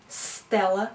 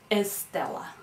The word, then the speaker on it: Stella: Stella is very difficult for Spanish speakers to pronounce because that never appears in Spanish in the beginning of a word. So Spanish speakers have a tendency of adding a vowel sound in the beginning to help them pronounce a word like Stella. The way that they end up pronouncing it very often is Estella, right?